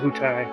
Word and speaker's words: Wutai: called wutai a wutei i think it's wootai that's how i pronounce it one day i